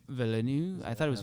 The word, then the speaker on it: Villeneuve: Villeneuve. I thought it was Villeneuve.